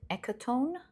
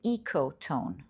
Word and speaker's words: ecotone: number one you've got echotone for pile number two sorry this is pronounced ecotone not echotone ecoone for pile number